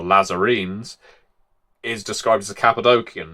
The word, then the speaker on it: Cappadocian: And I say Cappadocian now, not Cappadocian, because the language of, well, the Cappadocians would have spoken in Cappadocia had a hard C or K. They weren't in the habit of using C's to go sh or s.